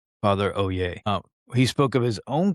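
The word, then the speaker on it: Olier: And when I say father Oay, that's how I'm pronouncing O L I E R. Father O Yay.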